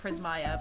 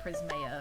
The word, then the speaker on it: Prismaeya: in there, even though now I personally pronounce it Prismaeya, but when people call me Prismaeya, it's fine, I don't care.